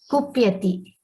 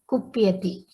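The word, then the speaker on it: कुप्यति: And this is ku. It is not kr. It is ku. Yeah. Kupyati. Kupyati.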